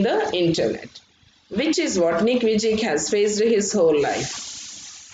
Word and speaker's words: Nick Vujicic: Vujicic అని ఉంటుంది, but you should pronounce it as Nick Vujicic.